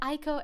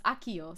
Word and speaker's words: Akio: this at Ico air oh wait this is I no it's Akio sorry I said your name wrong the entire time your Akio my bad Aiko air sounds like a shoe though true Akio it's Akio I mixed the eye up in placement uh you also got